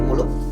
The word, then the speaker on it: Moeloe: dapetin produknya dari Kopi Mulo. bisa DM ke IG Molo Kopi Premium. Mulo Kopi Premium. Iya. Tulisannya adalah MOELOEK. Moeloe Iya, ya. ejaan nama. Ejaan lama.